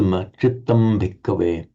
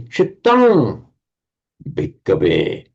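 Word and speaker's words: cittaṃ bhikkhave: So chittang bhikkhave, it's immediately followed by a labial, by the b. And so it would be pronounced as a chittam bhikkhave. If you were pronouncing it very slowly and deliberately wanted to leave a pause, then it would resolve into chittang.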